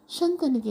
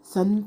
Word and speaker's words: ಶಂತ: ಚಂದವಾಗಿರ್ತಾಳೆ ಅವಳನ್ನ ನೋಡಿದ ತಕ್ಷಣ ಶಂತನಿಗೆ ಏನ್ ಅನ್ಸುತ್ತೆ ನೋಡಿ ಇಲ್ಲಿ ಶಕಾರ ಬರಬೇಕು ಮಕ್ಕಳೇ ಗೊತ್ತಾಯ್ತಾ ಉಚ್ಚಾರಣೆ ಕಡೆ ಕೂಡ ನೀವು ಗಮನ ಕೊಡಬೇಕು ಸಂತ ಅಂತ ಹೇಳಬಾರದು ಶಂತ ಅಂತ ಹೇಳಬೇಕು ಓಕೆನಾ ಶಂತನು ಅವಳನ್ನ ನೋಡ್ಬಿಟ್ಟು